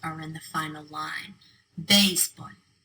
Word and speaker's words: béisbol: All 4 of those words end in a consonant other than N or S. They should be pronounced with the stress on the last syllable, but they're not.